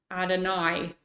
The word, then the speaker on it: Adonai: I don't know how to pronounce that word. Adonai? Pronunciation. Adonai. There we go.